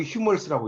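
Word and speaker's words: humours: 이제 이걸 코미디 오브 휴머스라고 이야기합니다. 우린 유머라고 하지만 영어로는 휴머스라고 그러니까 이거 알아두세요. H가 발음이 됩니다. 우리는 이제 묵음이지만.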